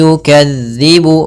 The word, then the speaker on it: يكذب: Kemudian hati-hati dalam melafalkan huruf dzal. Huruf dzal, hati-hati. Jangan sampai kita membacanya dengan huruf zai. Misalkan ara'aital ladzi yukadzibu misalkan.